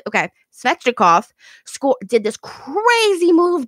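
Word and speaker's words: Svechnikov: butcher this guy's name fetching a cough no yep that's exactly how you pronounce it okay spectra cough score did this crazy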